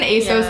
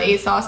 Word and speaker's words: ASOS: want to pronounce it it's like an Asos ASU type thing wait people say ASU yeah no way yeah and they say as Asos it's a two-piece